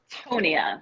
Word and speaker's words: Tonia: start with tonia did i say that right tonya like antonia yeah you guys it's tony okay say it wrong as